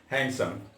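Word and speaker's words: handsome: जैसे आप देखें हैंडसम। हैंडसम में 2 सलेबल है, हैंड और सम। यहाँ डी का उच्चारण नहीं करते हैं।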